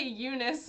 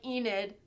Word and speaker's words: Enid: God the last one I always pronounce her name wrong because I say Eunice and I know that's not her name it's like Enid uh e-n-i-d and um I at first